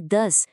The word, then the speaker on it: does: E a pronúncia não é do, tá? É does. Quase como se não tivesse o o e o e.